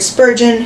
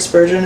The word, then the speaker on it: Spurgeon: Can you look up if Jared Spurgeon is the captain of the Wild Ninko? Um, but just like in Jared Spurgeon, let's pronounce that. Spurgeon. Spurgeon. I don't know. Okay. like surgeon.